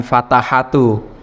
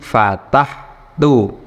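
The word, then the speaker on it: فَتَحْتُ: Ketambahan kata ganti tu yang artinya adalah aku, jadinya bukan fatahatu, tapi fatahtu. Huruf akhirnya yaitu ha, fataha, huruf akhirnya ha ini disukun. Jadinya bacanya fatahtu.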